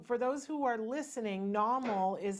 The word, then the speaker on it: Nawmal: okay and so for those who are listening Namal is spelled na WMAL you can go to normal comm and so Paul you have something well